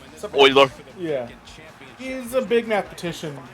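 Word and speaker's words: Euler: We we covered uh what our favorite work of Mueller was. I legit have no idea who Mueller is. Apparently, it's from Oiler. Uh Oiler.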